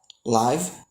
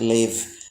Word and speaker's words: live: Ela pode ser usada no sentido de morar, de viver, e aí a pronúncia é live, mas essa palavra se popularizou aqui entre nós como live, significando ao vivo, transmissão ao vivo.